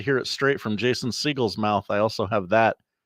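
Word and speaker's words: Segel: His name is not Jason Segal. It's Jason Siegel. Jason Siegel. Oh, interesting. Where'd that come from, Josh? Google. Now, if you'd like to hear it straight from Jason Siegel's mouth, I also have that as well.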